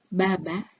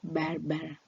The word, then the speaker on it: baba: sick Swahili voils pronunciation when a comes at the end of a word it is pronounced like a beginning or a middle a rather than like R Baba does not sound like barar it is B when two different voils